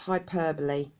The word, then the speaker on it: hyperbole: this was quite tricky it's pronounced hyperbole spelt hyperbole hyperbole in general English